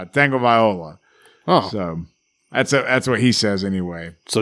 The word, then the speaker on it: Tagovailoa: It's all the talking heads at ESPN said it right. It's Tagovailoa.